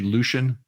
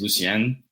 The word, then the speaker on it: Lucien: your name say actually Lucian uh so that's the American way to say it so my dad's side of the family they're they're Haitian so the correct way to say it is Lucen but growing up like